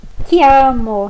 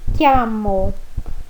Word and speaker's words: chiamo: Io mi chiamo. CHI, som de ki. Io mi chiamo.